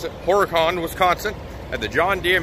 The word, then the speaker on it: Horicon: And let's see, last time I left you, I was up in Horicon, that's how I've been told to pronounce it, Horicon, Wisconsin, at the John Deere Manufacturing Facility where they make John Deere lawnmowers and gators.